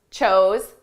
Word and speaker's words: chose: Choose, chose, chosen. Notice the pronunciation difference between our base verb, choose, and the past and the participle. Choose, chose. Ooh, oh. Choose, chose, chosen.